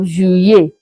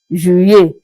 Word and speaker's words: juillet: So the tactic here is that you pronounce the two letter L as if you are pronouncing just one letter Y. Then you get your sound of juillet, juillet.